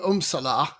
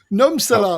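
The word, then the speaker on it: Nurmsalu: I preferred Sandra Umsala. Did I pronounce that correctly, Martin? He's on mute. Well, like I was expecting to be called upon. Sorry, just dozing off there. Well, Sandra Numsala, wasn't it? Numsala, that's right.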